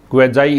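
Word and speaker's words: quasi: तो ये एक प्रीफिक्स है, क्वेजाई इसका प्रोनाउंसिएशन है।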